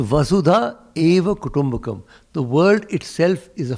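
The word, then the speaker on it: वसुधैव कुटुम्बकम्: the much uh quoted vasudeva except that everybody in delhi mispronounces it and thinks it has something to do with vasudeva krishna nothing to do with krishna it's a vasudha eva kotombakam the world itself is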